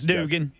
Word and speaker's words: Dugan: Dugan or Duggan, I don't know how to pronounce it. It's Dugan.